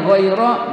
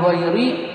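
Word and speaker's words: غير: yaitu berupa wajibnya nasod Jadi hairo dibacanya goiro bukan Gori bukan bailu karena wajibnya nasod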